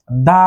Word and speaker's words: the: vowel না consonant এসটিভ consonant তাহলে কি হবে দা সান তারপর এখানে আরেকটি দেয়া আছে দেখুন কান্ট্রি